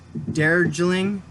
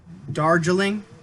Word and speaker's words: Darjeeling: high learning family endings dare drilling oh i said it wrong darjeeling and then there's a